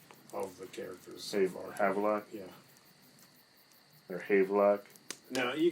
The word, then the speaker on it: Havelock: But, yeah, Havelock. I just said Have in my mind. Havelock. Like Haven. That's how I read it.